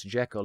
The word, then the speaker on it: Jekyll: In this film version, Henry's surname is pronounced Jekyll, supposedly the way Stevenson said it when asked by reporters.